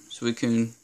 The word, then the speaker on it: Suicune: Suicune. I thought it was... I don't even know how to pronounce this, but I looked it up. Suicune.